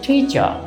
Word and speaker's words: teacher: এই যে আর আছে, আর এর পরে আমরা দেখতে পাচ্ছি টি অর্থাৎ কনসোনেন্ট, সুতরাং আমরা এখানকার আর কে উচ্চারণ করব না। আমরা এখানকার আর কে উচ্চারণ করব না কেন? যেহেতু আর এর পরে কি আছে? কনসোনেন্ট টি, এজন্য আর ইজ নট প্রনাউন্সড হিয়ার।